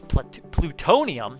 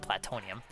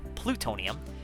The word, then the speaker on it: plutonium: And then you got this one, which is plutonium, not platonium, plutonium.